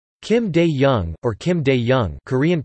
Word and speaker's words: Kim Dae-jung: Kim Dae-jung, or Kim Dae-jung, Korean pronunciation Kim D.